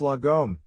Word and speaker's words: lagom: dot the core idea the word logom pronounced lagom is a swedish concept